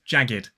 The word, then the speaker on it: jagged: It should be jagged if it followed the pattern, but it is jagged. And another example would be naked. Naked. It's 2 syllables, naked. It is not naked.